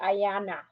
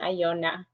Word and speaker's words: Ayana: or the application Oh your name is pronounced wrong sorry Ayana okay so it was written Iona that's why I kept saying Iona oh oh thank you